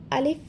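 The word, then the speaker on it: ألف: লক্ষ্য করুন যদি ভেঙে উচ্চারণ করি আ লিফ যখন আমি লিফ বলছি সেক্ষেত্রে সামনের উপরের দুই দাঁতের আগা নিচের ঠোঁটের পেটের সাথে লেগে হালকা একটু বাতাস জারি থাকবে অর্থাৎ চালু থাকবে আলিফ আলিফ লক্ষ করি এখানে হচ্ছে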